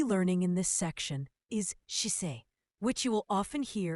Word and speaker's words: 姿勢: The word we'll be learning in this section is shisei, which you will often hear in settings such as fitness classes, yoga, or discussions about someone's attitude towards work and life. The word sisei, pronounced as shisei, means posture or attitude.